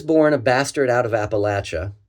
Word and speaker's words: Appalachia: I was born a bastard out of Appalachia, which by the way is the cor correct pronunciation in 1968.